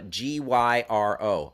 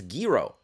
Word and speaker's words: gyro: pronounce uh uh g-y-r-o I think it's Giro Giro but um I've also in my own life I feel like I've mispronounced it as gyro gyro so um you know what but I'm I'm going with Giro I'm going with Giro